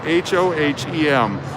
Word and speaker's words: Hohem: The brand name of the gimbal is spelled H-O-H-E-M. Hohem. Perfect for Vegas. I call it the Ho for short.